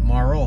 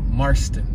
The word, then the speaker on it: Marston: 2500 block of marston marston not morrow but marston we're on 28th and huntington